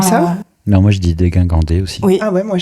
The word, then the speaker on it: dégingandé: Quand on regarde le dictionnaire, quand on regarde la phonétique, l'alphabet phonétique, c'est dégingandé. Bah oui, il y a pas de, c'est pas GUI. C'est GI. Comme gin tonic.